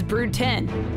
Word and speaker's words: Brood X: about brood x cicadas brute 10's pronunciation is brew 10 because every cicada brood